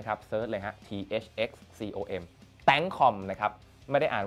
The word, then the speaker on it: ThxCom: ที่ Facebook นะ ครับ เสิรช เลย ฮะ thxcom tcom นะ ครับ ไม่ ได้ อ่าน ว่า thxcom นะ ฮะ โอเค นะ ครับ หลาย ๆ คน